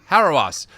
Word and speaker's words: Hauerwas: Hauerwas at Duke.